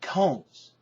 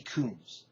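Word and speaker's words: Combs: on in this review Lord Alfred Hayes pronouncing is one of the competitors names wrong he calls Debbie comes Debbie kums Debbie KS she's got a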